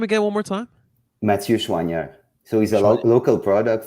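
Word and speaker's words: Mathieu Choinière: Mathieu Chouanière.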